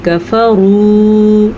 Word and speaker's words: كَفَرُوا: عَذَابُ جَهَنَّمَ وَبِئْسَ الْمَصِيرُ۔ کفروا، را کو پر پڑھیں گے اور واو مدہ کی وجہ سے کھینچ کے پڑھیں گے، کفروا لمبا کریں گے، بربہم ہاں کے تلفظ